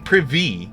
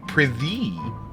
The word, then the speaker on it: prithee: I'm not saying privy. I'm saying prithee.